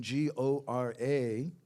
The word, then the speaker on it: Gora: Now, the spelling, G-O-R-A, is bona fide. It's used sometimes by Bhaktivinoda Thakur. You would give a long A at the end.